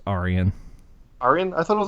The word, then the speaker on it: Arjen: It's Arian. Arian? I thought it was Arjen.